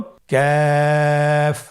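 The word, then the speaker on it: ك: আবার বলুন কাফ। কাফের মাখরাজ আমরা স্ক্রিনে দেখতে পাচ্ছি। কাফের মাখরাজ হলো জিহ্বার গোড়া থেকে একটু আগে বাড়িয়ে তার বরাবর উপরে তালির সঙ্গে লাগিয়ে উচ্চারিত হয়।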